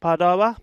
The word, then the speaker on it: Padova: and roma and pardova i'm told it's pronounced padawa but uh i could